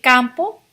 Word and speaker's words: campo: El campo. El not campo. Campo. El campo. Go camping in the country, but it's pronounced campo.